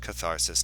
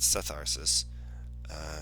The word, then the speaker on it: catharsis: far as I'm concerned it should start with a k and it's a Greek word and there's not really